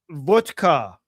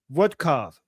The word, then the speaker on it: Witkoff: He's mispronouncing it. He's saying he's making Witkoff sound like vodka.